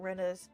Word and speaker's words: Rena: Reina sounds pretty cute. それでレイナじゃなくてレナって読むのか？ Rena instead of Reina.